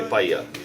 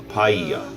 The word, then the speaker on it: paia: He paia, yeah, a wall. Repeat after me. Paia.